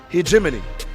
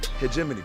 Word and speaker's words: hegemony: He h hegemony. Hegemany.